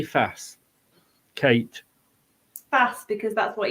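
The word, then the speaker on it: Faes: first joined he said people have asked me how to pronounce my name and it's woot fast yeah that's why it drives me mad when BBC Radio Lester are like fars and I'm like he's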